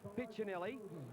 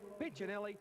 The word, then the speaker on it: Piccinelli: Now, there's been a question mark thrown at us by the Italian community who say that Pinchinelli should actually be pronounced Piccinelli. However, we've asked Neil his pronunciation of his own name, and he prefers to be called Pinchinelli.